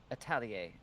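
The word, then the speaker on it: atelier: Italier is how you pronounce it. Okay. And that is Italier.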